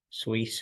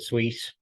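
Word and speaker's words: Suisse: by its rival UBS sweet I think that's how you pronounce it credit Suite that's how we pronounce it now anyway here is a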